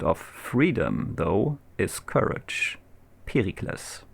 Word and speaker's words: Pericles: Pericles. Or Pericles, if you want to pronounce it English.